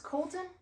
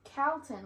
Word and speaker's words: Calton: This one is, everyone says it's Colton, but it's Calton.